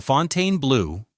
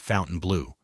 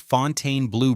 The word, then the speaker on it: Fontainebleau: The Fontaine Blue, which I'm pretty sure is how you say it, not Fountain Blue, was supposed to open in 2009 as a $2.9 billion masterpiece.